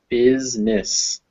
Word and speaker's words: business: or it's an e the other is business where it's not pronounced at all it's just silent business yeah not business business